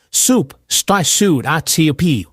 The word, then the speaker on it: soup: It has the long U sound, like zoo or blue. Listen closely. Soup, S O U P.